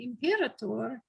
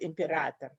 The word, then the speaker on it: Imperator: one for me, the first time I heard you pronounce it was Imperator, because I think imperial, and so I was always saying Imperator, which is not the way that you pronounce it. But it's Latin. I pronounce it like you would Imperator.